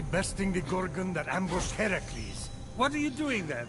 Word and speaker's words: Heracles: So, Phoenix, after boldly besting the Gorgon that ambushed Heracles, what are you doing there? That thing with your voice. Heracles? Yeah, that that is how it's supposed to be pronounced.